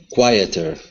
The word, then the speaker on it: quieter: Quieter. Good. Now we can also take that D and turn it into a flap, or sorry, that T and turn it into a flap T. So it's quieter.